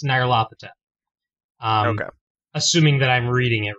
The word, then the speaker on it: Nyarlathotep: the major characters, and according to that guide, it's Nyarlathotep.